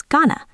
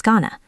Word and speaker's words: gonna: Going to becomes Ghana. I was gonna Next part, tell him.